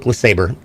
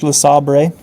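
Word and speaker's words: LeSabre: Um, but the car I learned to drive on was a 1986 Buick Lasaber. It's pronounced Laabre.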